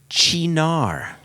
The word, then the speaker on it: Cynar: Cynar is pronounced Chinar, There we go.